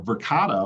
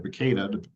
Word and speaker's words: Verkada: The crazy thing is, you know, Verkada or Verkada, depending on how you pronounce it, they are a huge